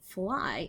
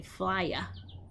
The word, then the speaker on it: fly: So we don't say flya, like the Y, like the y sounded Y. We say fly. The Y makes the I sound at the end of the word fly. And here we have a picture of a baby.